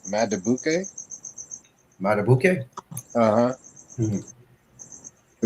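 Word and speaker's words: Madubuike: Matabuke.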